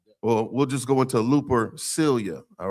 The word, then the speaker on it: Lupercalia: Look up Lupercalia. It's pronounced Lupercalia. Lupercalia.